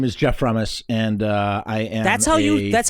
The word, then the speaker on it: Frumess: you okay so yeah my name is Jeff promise and I that's how you say it from us yeah yeah yeah yeah I I don't I